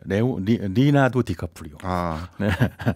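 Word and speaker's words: Leonardo DiCaprio: MS 창업자인 빌게이츠 있고요 그리고 그 유명 배우죠 리나도 디카프리오 정확한 발음입니다 관심이 굉장히 많이 모았고요 그래가지고 2022년까지 지난해까지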